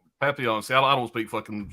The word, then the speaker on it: Papillon: Papillon. Papillon.